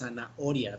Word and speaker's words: zanahoria: So you might think that that sounds like a J, like a hole, but it's zanahoria because it's like mute. Is like a silent H.